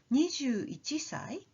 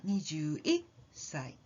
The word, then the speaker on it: 21歳: Try jumping up when you say the sound before the small tsu, like 18歳 or 21歳, and you will get the right sound.